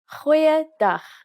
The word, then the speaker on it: goeiedag: Goeiedag, ek is Anne-Marie Luck. Aangename kennis. Let's try that again. G. Try pronouncing it from the back of your throat.